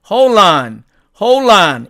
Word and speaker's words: hold on: 자, 그런데 이 경우도 을드가 되니까 이 D를 삭제를 합니다. 그래서 어떻게 발음하냐면은 hold on 이렇게 발음이 됩니다.